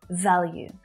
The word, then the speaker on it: value: Value. Can you also hear that y sound in the end there as well, right? Value, value, you, you, not value, value.